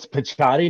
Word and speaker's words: Picciotti: That's how you say his name as well. Yeah, it's Picciotti, not Picciotti. Yeah, okay, it's Picciotti. I butchered it last week.